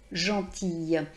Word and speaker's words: gentille: Donc je rajoute le E et donc là je vais prononcer la syllabe finale et donc je vais bien entendre gentille.